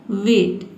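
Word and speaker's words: weight: देखिए इ आई से पहले क्या है? डब्ल्यू आया। यानी कि सी लेटर नहीं आया है। ठीक है? तो इ आई को हम क्या पढ़ेंगे? ए पढ़ेंगे। देखिए डब्ल्यू को ओ पढ़ते हैं। इ आई का ए हो जाएगा।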